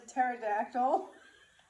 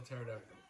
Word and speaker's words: pterodactyl: joke that F around why can't you hear a t p do you know why cu the p is silent how do you smell pterodactyl starts with a P